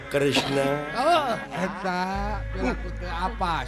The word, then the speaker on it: Kresna: Tah eta Batara Kremes. Batara Kresna. Kremes aing mah. Padahal nu leresna mah Kresna.